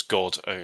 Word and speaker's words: Godown: The last word is Godown, exactly as it's spelled.